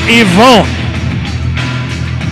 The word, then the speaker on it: Yvonne: And I know I called him Evan Petrie last week, believe me. He ripped me a new one for that. He is very adamant that the proper pronunciation of his first name is Yvonne.